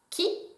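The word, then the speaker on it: 木: pictogramme d'un un arbre ça se prononce qui en japonais il est associé à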